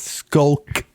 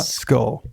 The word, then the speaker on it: Skulk: Okay, you're going to have to pronounce that again, cuz it's Skulk, not Skull.